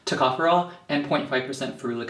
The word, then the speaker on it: tocopherol: alpha taco furole that's how you say it tocopherol tocopherol and point five percent foreign acid so the